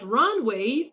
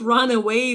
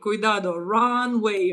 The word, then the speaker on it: runway: But runway, not run away though, not run away. Runway. Runway. Um, runway. So ru n w a y.